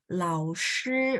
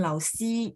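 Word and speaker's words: 老师: Shi, lao shi, bukan lao si, no ya. Lao shi, ya SHI ya. Spelling yang benarnya ya, lao shi, shi.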